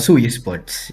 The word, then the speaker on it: Su Esports: With CU Esports now, or how do you say the team name, by the way? Mind if I chat? Su Esports. Yeah. Su Esports. Like Ronaldo Su.